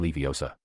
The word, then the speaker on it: Leviosa: Wingardium Leviosa. The girl seemed to snap at his spitting. You're saying it wrong. It's<unk> wingardium Levi Osa. Make the gar nice and long.